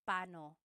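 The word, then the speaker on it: paano: It's technically when there are two vocab or when there are two vowels together you say them separately. But when speaking quickly, Filipinos just say pano.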